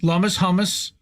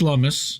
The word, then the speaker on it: Lummis: Lummis. I think it's Lummis. I think it's pronounced Lummis.